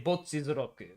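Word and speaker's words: Bocchi the Rock: Well, I mean, like when I speak Japanese, I say "botchi zroku," right? I say "botchi zroku." I say it closer to like the actual Japanese pronunciation.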